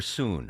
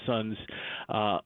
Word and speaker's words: Sun: So the indictment charges, is it Sun or Soon? I just assumed it was Soon. It's Sun. Okay. That's the way it's been pronounced good.